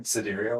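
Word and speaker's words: sidereal: How do you pronounce it again? Cadurial. Cadurial. The cedarial is staying with the stars.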